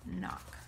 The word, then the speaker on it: knock: is knock and remember knock has a silent K if you remember the story kunafa bunny the case should be silent so it's knock so on nine number